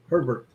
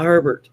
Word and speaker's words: Hebert: was your maiden name herbert herbert herbert or it probably was yeah yeah hey bear that would be pronounced down here yeah see my maiden